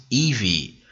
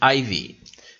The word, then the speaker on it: Evie: My God, why can I not pronounce Evie? The moment I see it on screen, the first thing that comes to my mind is Ivy. I cannot help it. I cannot help it. Every damn time I always pronounce her name wrong, Evie Oddly.